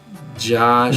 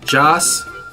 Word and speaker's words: Joss: Josh. No. Josh. No. Joss Yes.